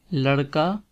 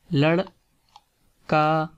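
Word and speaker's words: لڑکا: In here the r sound is air, you can say like in Spanish. It is not or like in English language, but it's look like in Spanish language. So don't say lad ka, but say lad and then say ka.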